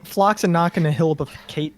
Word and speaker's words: floccinaucinihilipilificate: So it means the estimation of something as worthless, and it is pronounced floccinaucinihilipilificate.